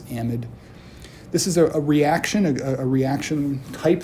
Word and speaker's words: amide: And they're going to form this new functional group called the amide, or the amide. I will pronounce this amide.